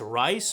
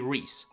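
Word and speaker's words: Rhys: In the middle we have Reys, which some may pronounce incorrectly as Rice or Riss, but it's actually Reys.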